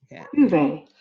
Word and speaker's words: duvet: Duvet. Duvet è proprio la parola francese La e francese. si pronuncia proprio alla francese, duvet.